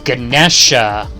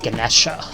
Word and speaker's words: Ganesha: Oh, Ganesha! Okay, I got the god's name wrong for this, the great Ganesha.